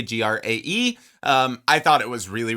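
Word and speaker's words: græ: When I'm weary and it sounds amazing at the top, and if you haven't listened to his album, I think it's pronounced Gray, Grae.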